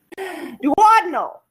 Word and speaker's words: duodenal: duodenal duoden meal what a meal what meal duodenal that's how you say it a duodenal ulcer